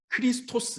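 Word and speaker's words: Χριστός: 그래서 이제 영어로 치면 K하고는 좀 다르고 CH 발음.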